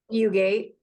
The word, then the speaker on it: Fugate: say your last name you gate so the way to remember it is Montana has tons and tons of fences but very few Gates ah there we go